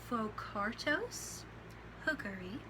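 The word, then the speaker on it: Phocarctos hookeri: lion its scientific name is right here it's pronounced focartos hookery its taxonomy is as follows kingdom animalia phylum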